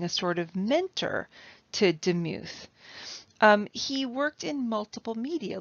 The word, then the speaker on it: Demuth: look at is charles demuth though i've heard that he called himself um his last name with the accent on the first syllable like charles demuth and so they called him deem he was from a